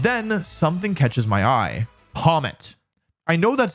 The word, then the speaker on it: Pawmot: Pommet. I know that sounds like I'm pronouncing it stupid on purpose, which I don't even do anymore, but I'm just bad at pronouncing things.